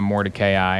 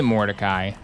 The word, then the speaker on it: Mordecai: about this game and they pronounced Mordecai Mordecai, and I was like, they don't even, in the game, it's not even said like that. They say Mordecai. Like, why are you saying it Mordecai?